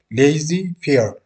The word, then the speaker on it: laissez-faire: He advocates the laissez-faire, pronounced laissez-faire, approach to economic system in which argued the economic unfair of society are best guided by the decision of individuals.